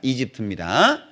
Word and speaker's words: 이집트: 우리나라 성경은 중국어 성경을 많이 참조했기 때문에 발음상 중국 발음이 납니다. 이집트입니다.